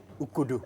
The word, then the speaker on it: Ukodo: okay so it is called oh yeah ukudu yeah okay yeah i got it finally thank